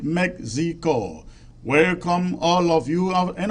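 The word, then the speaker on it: México: Mexico I mean uh the Spanish really the Spanish pronounce it as Mexico and the English pronounce it Mexico welcome all of you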